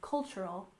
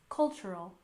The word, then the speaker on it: cultural: we have cultural heritage with a stress on the first syllable in cultural cultural and Heritage we stress the